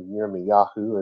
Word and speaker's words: Yirmiyahu: So you had an old sacrifice, according to Jeremiah, or Yirmiyahu, as his real name is pronounced, and you had what was going to be a Hadashah, a new sacrifice.